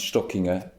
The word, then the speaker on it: Stockinger: Stockinger, like Kissinger in the States some time ago. Stockinger, it's pronounced Stockinger, S-T-O-C-K, like the stock of merchandise, and Inger, like Kissinger, yeah.